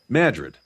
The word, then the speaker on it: Madrid: So there's a town not too far from me spelled Madrid, Okay. but pronounced over here Madrid.